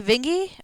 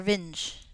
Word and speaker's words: Vinge: uh last names like Joan Jan D vingi or vinge I think it's vingy I'm probably it's split the